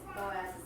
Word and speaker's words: Boaz: I think I found it, Matthew 1:5, and salmon begat, well, they spell it booze, but I think it's supposed to be Boaz.